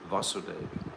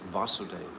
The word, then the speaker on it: Vasudeva: any covering, is called Vasudeva. In that pure state, the Supreme Godhead, who is beyond the material senses and who is known as Vasudeva, you see one has a long A and one doesn't, is perceived by my mind.